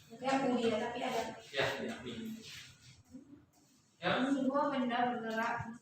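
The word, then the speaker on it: μ: Tanda kayak gini tuh apa bacanya? Mana tuh? Miu. Kok bisa gesek ya? Kayak mulia tapi ada. Ya, miu.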